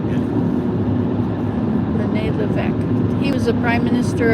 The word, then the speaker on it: Lévesque: Lévesque. Yeah. René Lévesque.